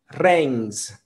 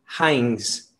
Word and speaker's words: Heinz: hechas con vegetales y la pronunciación originales reigns se mató kutcher 8 medio kutcher pero los hispanos lo van a decir como hans heinz haynes tomat show que ser